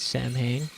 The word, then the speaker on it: Samhain: Pronounce it like you pronounce the band of the same name. It's Samhain.